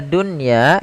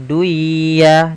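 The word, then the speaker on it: دُنْيَا: Kata dunya ini tidak boleh dibaca dengan duya, tidak, tapi langsung saja ke ya.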